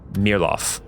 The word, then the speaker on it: Mayerlof: And what it's spelled as Mayerlof, but as you say it, you hear Mirlof, which is the current capital of Via Severia.